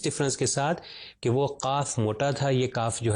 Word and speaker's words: قاف: تو یہ قاف جو دو نقطے والا ہے یہ تھوڑا موٹا پڑھا جاتا ہے، تو اس لیے میں تلفظ ابھی کر رہا ہوں تاکہ ڈفرینشیٹ صحیح طریقے سے ہو سکے.